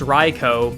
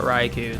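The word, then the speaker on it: Raikou: at the same time we all know it's pronounced ryko but none of us call it ryko we call it raiku but uh after that rant essentially um outbreak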